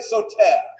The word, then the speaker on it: Soter: And Ptolemy the First, nicknamed Lagi or Lagi, assumed the throne, and his nickname was Soter. Everybody say Soter. You might want to write it down. It's spelled S-O-T-E-R.